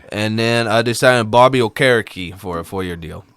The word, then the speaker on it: Okereke: Well, I always thought he was Okereke because that's how they said it at the draft, but they always say Okereke now. I think he changed the pronunciation of it or corrected it.